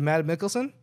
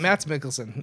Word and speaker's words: Mads Mikkelsen: The Hunt with Matt Mikkelsen. Like, it was one of my Mads favorite. Mikkelsen. Mads Mikkelsen.